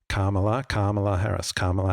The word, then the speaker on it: Kamala: So you think of karma, good karma, Kamala Harris.